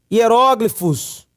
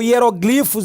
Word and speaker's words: hieróglifos: Alguns aqui já atribuem a influência egípcia com a questão dos hieróglifos ou hieroglifos egípcios. Você pode pronunciar das duas formas, o português permite.